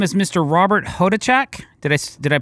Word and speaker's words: Hodachak: Robert Hodichak. Did I Did I pronounce that correct? Pretty close. Hotach.